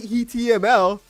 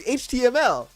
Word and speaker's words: HTML: What do you mean like heml? Like, you can't say hml. It's HTML. Like, you got to understand, bro.